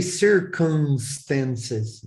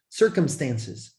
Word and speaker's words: circumstances: Don't say circumstances. It's not circumstance. Circumstances. Circumstances. Close your lips when you say the letter M. Circumstances.